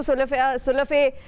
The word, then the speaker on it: Sulafay: हाँ, thank you सुलाफे, ये pronunciation है एक्चुअल जो अभी मैंने सीख लिया फाइनली सेगमेंट के एंड तक। थैंक यू सुलाफे, बहुत शुक्रिया, आपने वक्त निकाला।